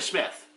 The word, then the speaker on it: Smyth: Karina Smith. Yes, it's spelled Smythe.